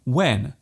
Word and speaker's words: when: There is actually no need to pronounce the H so strongly.